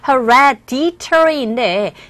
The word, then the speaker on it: hereditary: hereditary 이 부분에 강세 주시면 됩니다. 그래서 hereditary인데 이 D 사운드가 보시면 아시겠지만 E와 I 소리 자체도 모음 사이에 자리 잡고 있기 때문에 D사운드가 아니라 R에 가까운 소리로 들려서 hereditary 이렇게 발음이 됩니다.